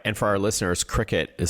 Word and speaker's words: Cricut: Yeah, let's start with the Cricut Joy Xtra and everything bundle.